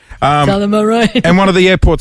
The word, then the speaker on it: Tullamarine: Tullamarine. Tullamarine.